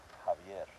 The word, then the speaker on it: Javier: roll the arms per X is kind of special. So the name Javier. So you can use it like a you know like a J sound. But then you can also use it like a that's another name too but that's so si. So now you're using it like that where here you're using like ha.